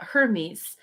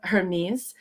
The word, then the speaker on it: Hermes: and uh when uh my family pronounced uh hermes uh basically you could almost not hear the h at all so it was like ernest so ernest is a